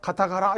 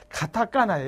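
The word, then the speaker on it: カタカナ: 어떤 사람 인터넷 보면 히라가라, 가타가라 이제 엉터리로 발음하는 사람도 있는데 얘는 여기 타금이라고 해서 점이 있지. 얘는 죽어도 까라고 발음 못해. 히라가나라고 해야 돼. 근데 얘는 여기 타금이 없으니까 뒤에 올 때는 까나라고 그래. 뒤에서 공부합니다. 가타까나야. 얘는 가타까나고 얘는 히라가나야. 히라까나 하면 안 돼. 히라까나는 없어. 히라가나, 가타까나.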